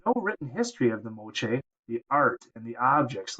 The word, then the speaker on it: Moche: at the artwork of the mooch people that's pronounced Mo uh and look at some